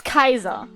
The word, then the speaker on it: Caesar: And if you pronounce the C as a K as we do in our Latin class and some people that study Latin, they are like okay an A and E.